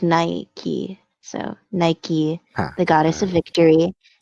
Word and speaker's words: Nike: So Well, and it is pronounced Nike.